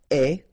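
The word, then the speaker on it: aie: and avoir will become est, remember the final E is not pronounced, so you only have this A-I sound, est, okay, est, ayons, ayez,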